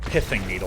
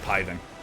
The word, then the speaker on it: Pithing Needle: well smash root yeah i believe this is pronounced pithing needle i think it is pithing but i like piving i just like the way piving sounds it might even be considered an acceptable pronunciation i think this was